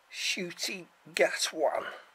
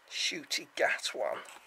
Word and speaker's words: Ncuti Gatwa: Ncuti Gatwan is how his name's pronounced. Ncuti Gatwan.